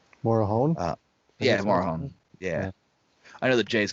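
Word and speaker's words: Morejón: Lucchesi and Morazian, or however you say his name. Morahone? Yeah, Morahone.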